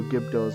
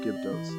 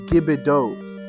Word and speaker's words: Gibdo: Also, fun fact about me, I always pronounced their name wrong. To the point where I thought the name was Gibidos. I thought there was an extra I, and there is not.